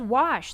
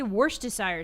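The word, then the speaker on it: Worcestershire: No one says wash. There's no H. People don't say worst desire sauce.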